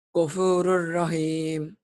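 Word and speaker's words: غَفُورٌ رَحِيمٌ: Karena tanwin bertemu ro berarti diapain? Dilebur. Tanpa de Ngung. tanpa dengung. Gimana bacanya Ghafurun rahim? Jadi Ghafurur rahim.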